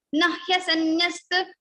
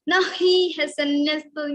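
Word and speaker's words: न ह्यसंन्यस्त: Ha is the first element, so we are not going to put stress here, and we will simply say na hyasanyasta. Don't say na hi hyasanyasta. You cannot make it double.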